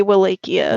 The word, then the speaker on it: Wallachia: and we open in wallachia is that how you say it malacchio wallachia or something like that yeah I think it's pronounced both ways in the show but mostly wilakia well Ikea sounds more